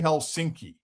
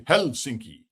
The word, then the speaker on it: Helsinki: The Finns always pronounce like we say Helsinki. The Finns say Helsinki, right? They emphasize the first syllable.